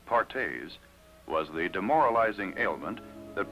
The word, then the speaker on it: Perthes: doctors another crippling disease known as Perthes pronounced pares was the demoralizing ailment